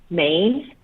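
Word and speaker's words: Meyn: m-a-d-e-l-y-n and then my last name is pronounced main like the state but it's spelled m-e-y-n okay thank you um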